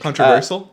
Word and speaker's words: controversial: controversial one i think controversial controversy how do you say that word controversial there's no h s h in there it's like herschel it's the s i sound i've never once said